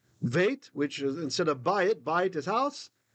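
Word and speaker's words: בית: And the reason it's vait is because this guy is a vocal schwa. He starts the syllable, he starts the word, he doesn't end one.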